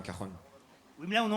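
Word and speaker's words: cajón: En Espagne, le J se prononce re, donc on dit un cajon.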